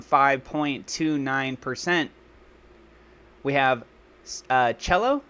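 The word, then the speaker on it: Celo: percent we have uh cello I believe is how you say that or Sello it's up 14.51 that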